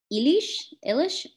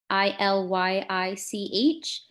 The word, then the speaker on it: Illich: Let's see, another one would be, someone asked if you had thought, I don't know how to pronounce this name, but thoughts on Ivan Illich? I think it's Illych.